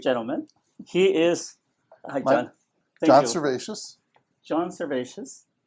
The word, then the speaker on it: Servatius: he is conservacious John cervacious did I say it right you did you said a perfect it's been such a